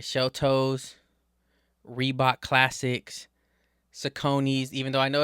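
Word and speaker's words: Saucony: Sheltos, Reebot Classics, Sakone, even though I know it's pronounced Sakin, but Sakone, it just it just it it's a better it's it's a better pronunciation of the word.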